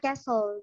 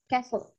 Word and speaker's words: castle: Di American English mereka nyebutnya castle. Jadi T-nya itu silent, castle. Iya. Nah, sementara kalau di British English we say castle. Jadi di sini tuh huruf T-nya itu agak di-pronounce tapi subtle gitu, subtle, agak lembut, nggak terlalu kerasa tapi ada gitu.